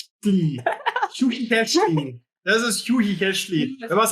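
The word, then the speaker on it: Chuchichäschtli: So yes, I got a name which was quite difficult for me to pronounce. No. Kushishachli. It's Swiss German, right? Schuhichechli. Schuhichechli.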